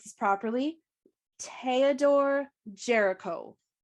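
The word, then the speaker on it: Géricault: Theodore Jericho. Like Chris Jericho. That is not how it's spelled.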